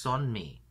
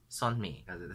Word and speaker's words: Sunmi: oh it's not oh it's pronounced son me son me it's always confusing when they romanize korean oh that's a nice